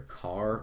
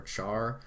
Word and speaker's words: char: is CH h r you can pronounce this either car or Char I prefer car though all right and then